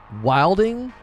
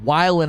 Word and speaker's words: wildin': Wilding? I remember people saying wildin' out, but no one pronounces it wilding. Well, I know its origin is wilding, but it's always pronounced wildin', like he's wildin' out.